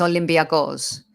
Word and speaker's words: Olympiacos: i say the different the correct pronunciation of is it olympiacos is that better yeah okay like a greek it's olympia ghost right so i'm going to